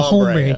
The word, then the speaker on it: hombre: H is silent, man. El Hombre.